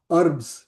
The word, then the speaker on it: herbs: Utaja is the small shrubs that you have, small herbs, herbs, H is silent, right?